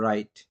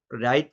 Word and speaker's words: write: অনুযায়ী সেই উচ্চারণটা হলো রাইট। আর দিয়ে শুরু হলো, ডব্লিউর পর আর বা এইচ থাকলে ডব্লিউ উচ্চারিত হয় না, সাইলেন্ট থাকে, ডব্লিউ রিমিনস সাইলেন্ট। এর জন্য আমরা আর দিয়ে উচ্চারণটা শুরু হলো এবং রাইট লিখলাম, ডব্লিউ আর আই টি, রাইট।